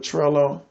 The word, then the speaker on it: Trello: I'm gonna start with I'm mostly familiar with Trello that's tr elo rhymes with jello versus T ar e